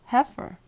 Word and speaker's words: heifer: Refer does not rhyme with defer. Pfeffer does, and zephyr, heifer.